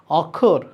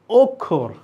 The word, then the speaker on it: অক্ষর: আচ্ছা, আরেকটা জিনিস তোমাদের মাথায় আসছে কি না, যে এখানে তো লেখা অ, তাহলে এটা তো হওয়ার কথা অক্ষর, কিন্তু আসলে কি এটা অক্ষর? আমি তো বারবার উচ্চারণ করছি অক্ষর। এই যে অ এর উচ্চারণটা আমি ও এর মতো করছি, লেখা আছে অ কিন্তু উচ্চারণ করছি ও, অক্ষর।